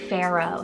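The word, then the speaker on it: Farrow: means courageous healthy and brave then we have Pharaoh spell f a r r o w Pharaoh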